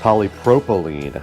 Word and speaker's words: polypropylene: This thing does have 6 3-inch balanced dynamic reinforced polypropylene. That's the correct pronunciation, and it does have 1 high resolution tweeter.